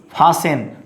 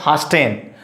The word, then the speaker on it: fasten: So don't say Christmas, So here is T is silent, and next word is fasten. Here is fasten, not fasten.